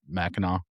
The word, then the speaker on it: Mackinac: We'd go up to I always I don't pronounce it right. Mackinac Island.